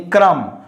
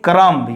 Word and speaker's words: crumb: And next is crumb, that means piece, slice, you know, that means not crumb, only crumb. So don't say crumb, you know.